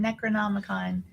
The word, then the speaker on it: Necronomicon: Necronomicon.